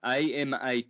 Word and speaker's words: Amaterasu: So, A-M-A-T-E-R-A-S-U, Amaterasu. Omikami is spelled O-M-I-K-A-M-I.